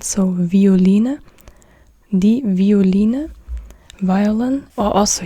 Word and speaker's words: Violine: Here it's pronounced like a W because this comes from, I don't know, Latin or Italian. This is not the typical German word. That's why you say it with a W sound.